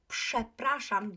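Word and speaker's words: przepraszam: like that prestrength so you may be familiar with the polish word chaprashan right i um i think i mentioned it a couple of times uh on um my lessons uh that you would pronounce sha prasham due to the first consonant being unvoiced like that okay so if you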